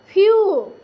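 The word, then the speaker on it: few: देखिए एफ ई डब्ल्यू फ्यू, यहाँ पे देखिए एस ई डब्ल्यू स्यू, एम ई डब्ल्यू म्यू।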